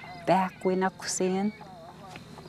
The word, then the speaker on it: Bakwinakusin: Now, that's with the pronunciation of the Q, which is the K. But if I were to spell it with a K and pronounce it Bakwinakusin, then I'm saying, about time you took a shower.